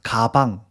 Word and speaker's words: 가방: 그러면 예를 들어서 가방, 가방이라고 이야기를 하는데 태국에는 이제 기억 그 발음이 없어요. 그러면 까방이라고 이야기를 해요.